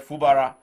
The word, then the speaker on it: Fubara: wi and man fubara I had the correct pronunciation from the man from OB now he said fubara so maybe we should just F he called